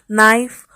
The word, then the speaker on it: knife: See, like we see here, in knife K is silent, in no K is silent, in nog K is silent, in knob K is silent, in night K is silent.